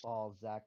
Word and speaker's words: Ballzsack: well, how do you pronounce it? Because Trash says Is it? Balzac, but it looks like it's spelled Balzac Master It because there's no probably is S. Balls Zach Master. I just say the But it's Z Zach because I think it's Yeah, funnier.